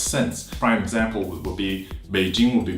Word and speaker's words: Beijing: in a phonetics sense prime example will be Beijing will be B I ji MV they do